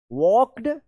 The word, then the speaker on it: walked: The seizures, do नॉट, वॉक्ड, WALKED, वॉक्ड, यहां पे आई silent है।